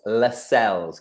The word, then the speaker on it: Lascelles: It's Lascelles. Can we just say it? Lascelles.